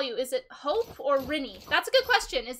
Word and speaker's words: Rini: It's Rini. Rini. Rini. That's what I was wondering. It's like, I don't know how to pronounce it.